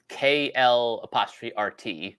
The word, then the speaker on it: Kl'rt: It's spelled KL''RT, so probably pronounced Kl'rt.